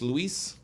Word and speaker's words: Luis: and thank you uh Luis Luis is that correct Alexis Luis yeah l-u-i-s will be pronounced Luis Luis Luis Luis who